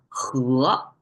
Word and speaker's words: 禾: He in English, if you see the sound, it's like a he, right? But Chinese pronounce the e sound as and it's a second tone, so it becomes he.